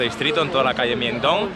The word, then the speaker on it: Myeongdong: Estoy en Myeongdong. He tenido que preguntarle a una persona cómo se pronunciaba para no decirlo mal.